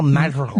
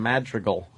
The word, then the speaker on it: Madrigal: Just this weekend, Al Madrigal will be at my club, and then how do you say his name? Madrigal. Al Madrigal. Madrigal. Madrigal. Oh, okay. It's a hard name.